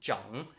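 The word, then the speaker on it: 长: there's this word which in Chinese has two pronunciations you've got um CH which means long and Jung which means to grow or Elder and it's specifically for Elder it's Jung but every time it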